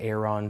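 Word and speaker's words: Aeron: people pronounce it differently some say air on some say ER and I say Aaron it's not really that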